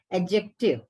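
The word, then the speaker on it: adjective: हैं डी is silent एडजेक्टिव तो D silent again देखिए आप अंडरलाइन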